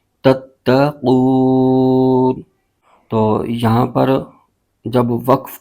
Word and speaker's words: تتقون: کی علامت ہے، تو یہاں پر وقف کریں گے تو اس صورت میں نون کی زبر ختم ہو جائے گی اور نون ساکن ہو جائے گا۔ اس کے ہجے یوں کریں گے، ت ت زبر تت، ت زبر ت، تت، قاف واو پیش قو، تتقو، نون زبر ن، تتقون، آگے وقف، تتقون۔ تو یہاں پر جب